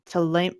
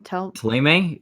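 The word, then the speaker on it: Thélème: Taleme? It's okay. Teleme.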